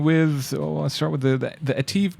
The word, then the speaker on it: ATIV: How were they pronouncing it? Ativ. Ativ. I think it's Ativ. Like active? Yes, like active.